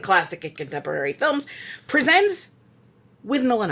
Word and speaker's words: Withnail: Yeah, not too much of a spoiler to tell you it's pronounced Withnail. Okay, so Bruce Robinson's Withnail and I. Mm-hmm. Okay, but it looks like Withnail.